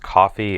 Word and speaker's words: Ko-fi: It's I think it's pronounced coffee. It's KO-FI.